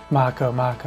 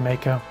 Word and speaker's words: Mako: And now I know to pronounce Mako. I used to pronounce it Mako when I was a kid. Which makes sense because it's Japanese.